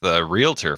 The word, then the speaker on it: realtor: Like I effed it up with realtor for so many years. Oh yeah. Adding extra syllables in there.